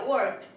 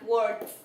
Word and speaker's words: worked: Aquí tenemos work, que en pasado sería worked. Recordemos que cuando la palabra termina en un sonido débil, se dice que se pronuncia la ed como una T. Esto se pronuncia como una T. Así sería worked.